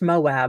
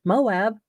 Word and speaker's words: Moab: It is pronounced Moab. I'm not like making something up that's going to offend all the LDS people. I'm going with Moab right now until I'm told,